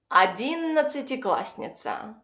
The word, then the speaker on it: одиннадцатиклассница: And instead of a double s, we pronounce a single s. Because when you speak fast, you don't have time to pronounce clearly every single letter.